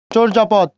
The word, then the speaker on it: চর্যাপদ: চর্যাপদ, জ আছে, জর আগে একটা অ আছে না, ওই জন্য সেই অয়ের উচ্চারণ ও, চো, রেপ থাকলে তার পূর্ণবর্ণ কি দিতে হয়, র দিতে হয়। চোর যা পদ, চোর যা পদ।